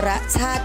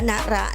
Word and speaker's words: นรชาติ: คำ ว่า นรชาติ คะ นี่ อ่าน ว่า นรชาติ ไม่ อ่าน ว่า นระ นะ คะ นี่ เป็น คำ